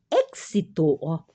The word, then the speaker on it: êxito: Éxito, pronuncia novamente com KS, del projeto depende del trabalho em equipo.